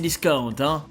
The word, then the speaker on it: Cdiscount: devez très certainement connaître et non pas ces 10 cas d'un oui s'est prononcé à la française car c'est une entreprise qui est né à bordeaux voilà et qui du